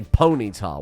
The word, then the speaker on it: Ponyta: You say Ponyta, weirdly. I say Ponyta. You say Ponyta, and it drives me fucking nuts. Ponyta. It's a pony. It's Ponyta. You're, like, combining all the syllables into one big syllable.